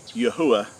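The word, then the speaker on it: Yahweh: that the name of the creator which is Yahwh which is which is the correct way to pronounce the four Hebrew letters of our creator's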